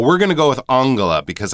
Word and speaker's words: Angela: one thing about that Angela would be the English pronunciation of that name for M Merkel uh we're going to go with Anga because I believe that's closer to the German pronunciation you might hear people